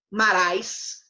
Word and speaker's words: Marais: outra companhia com o teatro de Maré narrar marais se lembra agora pronúncia e eles junto com essa companhia que